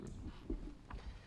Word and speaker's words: Rees: Mr. Rees, did I pronounce it correctly? Rees, yeah. Rees, okay, thank you.